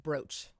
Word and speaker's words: brooch: Bob, people on, first of all, people on YouTube are saying it's pronounced brooch.